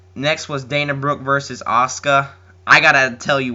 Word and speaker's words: Asuka: like is that how it supposed to be pronounced then I realized it was Asuka um anyway Asuka has a very interesting attire